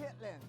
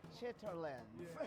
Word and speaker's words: chitterlings: written on paper, it might look like chitterlings, but I believe that's not We how it's call pronounced. it chitlins. Yes. Chitlins. Chitlins. Some proper folks say chitterlings.